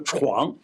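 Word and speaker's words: 疒: 字儿，这个字念作床。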